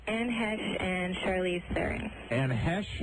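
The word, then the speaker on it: Heche: I've been told I look like Anne Hesh and Charlize Theron. Anne Hesh? Ooh. Anne Hesh. Ooh. Hesh rhymes with geish.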